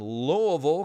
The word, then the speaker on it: Louisville: Clicking on Louisville, Kentucky. That is the right way to say it and pronounce it.